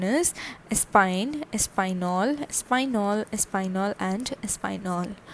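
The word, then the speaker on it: Espagne: one is spain and spain is known as spine a spine e s p a g n e okay and the nationality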